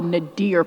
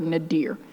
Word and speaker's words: nadir: about this term in his work called the nadir point. Nadir, and my mama told me, spell it, because some folks may not know what it is.